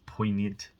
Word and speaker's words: poignant: It's just a really good song, and it's poignant. That's a good word. That's another good word, isn't it? Poignant. It's spelt weird as well, with a G.